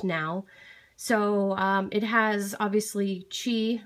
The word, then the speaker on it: Qi: so it has obviously chi which is spelled q-i it's not key chi chi or induction wireless charging